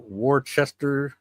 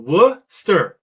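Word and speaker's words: Worcester: War Warchester. I I struggled with that. Yeah, it's really simple. Wster stir. It's two syllables. Don't Don't let the two C's fool you fool you.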